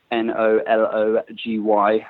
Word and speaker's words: Knology: Knology is spelled Nology, a little bit like technology with the tech word taken out.